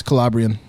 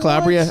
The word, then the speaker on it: Calabria: no idea where that is oh my family's calabrian really yeah that's how it's pronounced Calabria I apologize if I'm mispronouncing it it's fine